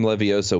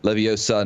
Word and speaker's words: Leviosa: So Wingardium Leviosa was the first one where they really talked about pronunciation and all that. You know, the Leviosa, not Leviosa, whatever.